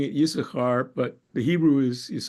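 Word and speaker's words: Issachar: call the mtic tradition the tradition of pronunciation seems to be of bi of biblical pronunciation of the name seems to be yakar instead of yasar of course we we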